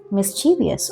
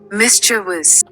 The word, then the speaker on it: mischievous: मिस्चीवियस। Okay, pronunciation देखते हैं। वैसे तो सही नहीं है, इतना तो मेरे को भी पता है। Mischievous.